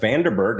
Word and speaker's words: Vandenberghe: We are here with a lovely guest uh Vanderberg. Is is that how we pronounce that?